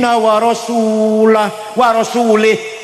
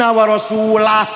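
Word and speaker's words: وَرَسُولُهُ: Salah. Yang benar bacanya innallaha bari'um minal musyrikin wa rasulah. Allah dan rasulnya tidak melindungi orang musyrik.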